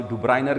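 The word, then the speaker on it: Döbereiner: उसमें आपकी बुक के मुताबिक डुब्रीनर, बाज़ डुब्रीनर कहते हैं, बाज़ डुब्राइनर कहते हैं, ठीक है, जो भी प्रोनाउंसिएशन है, 1829 की ये बात है।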